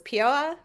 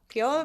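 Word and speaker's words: Peoa: Um we went up to uh uh Oh, I'm going to mispronounce this. Pioa. Pio. Yeah, I think it's Pio.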